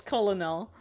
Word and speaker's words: colonel: Colonel, bologna, salmon, yeah, all these weird silent L's.